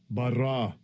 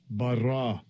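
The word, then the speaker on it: בָּרָא: If I click on that word, here's the pronunciation. Strong's H1254. Bara. Bara. Bara.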